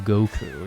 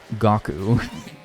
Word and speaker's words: Goku: I'm more powerful than Goku. Yeah, that's right. Gaku. Oh no. What if I start saying that? Uh you guys know how I like deliberately mispronounce things sometimes. What if I call him Gaku?